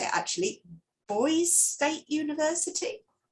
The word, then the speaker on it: Boise: I don't know how to say it actually, Boise State University? Boise.